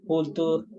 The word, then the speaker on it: culture: This ending always sounds like sure, okay? So, nature, nurture, and culture. Never ture.